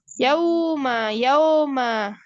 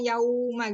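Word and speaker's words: يَوْمَ: Ya, huruf lin itu lembut. Jadi nggak boleh yauma. Jadi lembut ya, dan juga tidak panjang ya Ustazahnya, yauma gitu ya, yauma.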